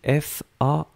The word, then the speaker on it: faim: On l'écrit FAIM. On le prononce faim, comme FIN. C'est exactement la même prononciation.